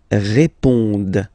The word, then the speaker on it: répondent: Ils répondent. So same thing here, classic ending, ENT, but then you don't pronounce it.